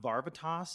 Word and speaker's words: Varvatos: scent is my John Varvatos cologne I learned the other day that it could actually be pronounced John Barba toss so take that take